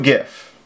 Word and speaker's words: gif: the program the script is called two gif or two jiff depending on how you say it I hit enter